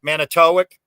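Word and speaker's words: Manitowoc: Now, the WOC, I think, is usually WIC, like Manitowic is the big crane and giant dragger company, Manitowic. WOC is usually pronounced WIC, right?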